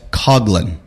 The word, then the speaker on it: Coughlin: And with you, you've got Coughlin.